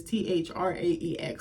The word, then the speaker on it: Thraex: So a man in the Senate, Thrax, I don't know how to say this shit. It's Thraex.